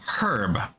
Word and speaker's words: herb: things like herb right we say the word herb when we're talking about things like well this